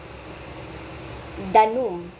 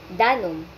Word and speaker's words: danum: Halimbawa, ang danum ay hindi binibikas natin bilang danum kundi binibigkas natin siya bilang danum.